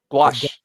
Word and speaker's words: gouache: How do you pronounce that? Gouache.